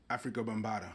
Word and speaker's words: Afrika Bambaataa: Afrika Bambaataa.